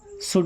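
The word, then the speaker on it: should: What means क्या, शुड means चाहिए, देखिए एल साइलेंट है ना, आई मीन्स मैं या मुझे, डू मीन्स करना।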